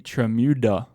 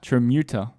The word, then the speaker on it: Tramuta: Well, one of us said it rhymes with Bermuda, but it doesn't really rhyme with Bermuda.